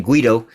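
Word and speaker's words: Guaidó: Juan Guaido, one of they damn puppets that one of my other subscribers, put me up on how to correctly pronounce his name, Guido.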